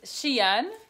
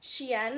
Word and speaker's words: SHEIN: Okay, so we're going to be doing a little, how do you pronounce it, Haley? I think it's SHEIN. SHEIN Haul.